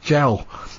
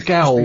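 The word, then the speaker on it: gaol: isn't it it's g-a-o-l i always thought it was a gal but it's actually it's actually jailed is it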